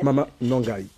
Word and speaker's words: Mama Na Ngai: Mama Nangai. Alors, est-ce que je l'ai mal prononcé? Mais en tout cas, alors, c'est Mama Nangai, ça veut dire, c'est en lingala.